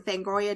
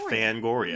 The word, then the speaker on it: Fangoria: have a column on fangoria decom on the website so if you're subscribed to fangoria and do you guys pronounce it fangoria or fangoria I say Fang like like a tooth yes that's how I